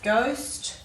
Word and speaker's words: ghost: We don't have a lot of silent H's in our words, but these are 3 words with silent H in them. We've got ghost, hour, and honest.